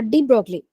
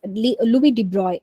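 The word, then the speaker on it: Louis de Broglie: of light so uh deep broccoli uh I mean we have to pronounce him as Louis debris okay um in the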